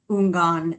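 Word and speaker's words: houngan: This is why I didn't say Mambo, etc., because I was not sure how to pronounce Ungan. I would have pronounced the H and done it wrong.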